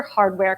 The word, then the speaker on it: HDWR: designer called abele and it's from their hardware collection i think it's hdwr is the way they pronounce that and this dress is